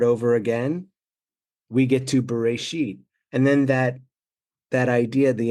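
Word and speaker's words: בראשית: in the beginning, but we pronounce the Hebrew Bereshit, which really is in a beginning. If it was in the beginning, it would be Bareshit, not Bereshit. Subtle difference, but the idea even,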